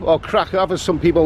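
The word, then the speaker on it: Kraków: It's August the 29th, 2019, and I'm in Krakow, or Krakow as some people like to pronounce it.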